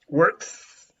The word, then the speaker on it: works: in a restaurant castle in this case works is a clear s without any no his works okay no vibration no vibration okay no zoom no zoo